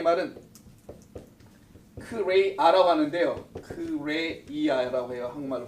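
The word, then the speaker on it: χρεία: 부족하다는 이 말은 크레이아라고 하는데요. 크레이아라고 해요. 한국말로 발음은.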